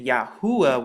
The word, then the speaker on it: Yahuwah: from right to left you once again get the pronunciation yahuwah once again and it's